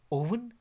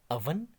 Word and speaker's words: oven: इस तरह बोलते हैं, ओवन, ओवन, ओवन। मगर ओवन इसकी करेक्ट प्रोनाउंसिएशन या सही तलफ़ुज़ नहीं है। इसका सही तलफ़ुज़ या करेक्ट प्रोनाउंसिएशन है अवन, अवन, अवन।